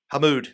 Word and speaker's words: Hamood: Hamood, am I pronouncing that correct?